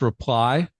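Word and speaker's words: Replai: It's pronounced reply, R E P L A I.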